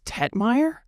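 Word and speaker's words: Tegtmeier: big names yeah Ralph Tetmagger I'm sure that's not how you actually pronounce his name but freighter udeter oh it's Tetier has a G in it but it's German so the G is silent oh man we're sorry Liz Ralph Ralphie.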